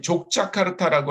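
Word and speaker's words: Yogyakarta: 저는 이제 특히 족자카르타라고 하는 지역에서 있었습니다. 여기 족자카르타는 요 지역입니다. 이 지역을 족자카르타라고 하는데, 스펠링 원래 이름이 요기야카르타입니다. 그런데 아마 그렇기 때문에 그 사람들은 이제 J를 Y로 발음하지 않습니까?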